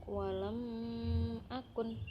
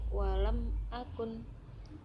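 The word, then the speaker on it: وَلَمْ أَكُن: ini ditunjukkan pada lafadz walam akun cara membacanya jelas bukan qualm akun ataupun walong akun itu bukan tapi walam akun terus bacaan iqlab bacaan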